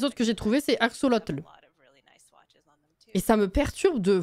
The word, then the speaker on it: Axolotl: Puis en plus, je suis matrixée par Pokémon, c'est Axolotl. Donc, c'est pas Axolotl.